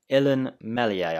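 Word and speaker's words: Illan Meslier: day the other day ellen mellier i think it's pronounced i think the s is silent if it's not let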